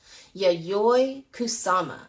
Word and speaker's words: Yayoi Kusama: yayoi kusama let's say her name together ready yay kusama and she has been doing art since she